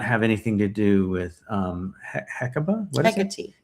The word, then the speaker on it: Hecate: And so, and I'm sure that may not have anything to do with Hecate. What is it? Hecate. I'm pretty sure that's how you pronounce it.